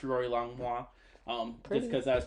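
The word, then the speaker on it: rorylongmua: social media so uh Instagram is r-o-r-y-l-o-n-g-m-u-a okay pronounced Rory longwa um just because that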